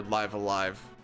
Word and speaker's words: Live A Live: I have never done Live Alive or Live a Live or Live a Live or Live Alive.